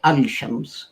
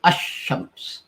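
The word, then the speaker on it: الشمس: only in front of it you don't say al-shams you say ashrams and if you have the word so all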